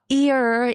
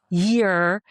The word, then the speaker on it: year: But when I sang songs in English, few people came to me like after each performance, "Hey, Aiko, it's not ear, it's year. It's not hurt, it's heart."